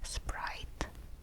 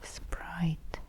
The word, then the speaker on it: Спрайт: Again, no need to translate, but make sure to pronounce that in the middle in the Russian way. Otherwise, you get the English sprite. Sprite and we want the Russian sprite.